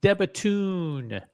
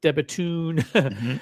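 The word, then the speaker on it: De Bethune: This is the This is the Debatun. And that's how you pronounce it. Debatun.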